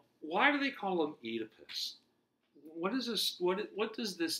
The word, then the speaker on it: Oedipus: So I know it looks like O-E, right? But in Greek, when you got two vowels in a row, they're pronounced as one. So Oedipus, right?